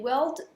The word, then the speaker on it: world: ça le seul ensuite le World World pensez à girl souvent girl ça va mais World est prononcé comme World World enfin c'est un truc bizarre donc c'est World ou Word avec un r plus marqué en américain je préfère donc ça